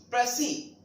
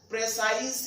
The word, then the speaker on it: précis: Actual pronunciation is only प्रेसी. What? प्रेसी. वन बाय वन पूरी इसकी origin मैं बताऊंगा आपको. प्रोनाउंसिएशन प्रेसी. यस, ओरिजिन हुई है इसकी फ्रेंच वर्ड से, FRENCH. व्हाट? PRESEE. ये है इसकी ओरिजिन. इसी के सेंस में इसको बोला जाता है प्रेसी. और बहुत सारे लोग इसको IS को देखकर क्या बोलते हैं? प्रेसाइज या प्रिसाइज या प्रेसिस. इस टाइप का वो प्रोनाउंसिएशन करते हैं, जो कि बिल्कुल रॉन्ग है.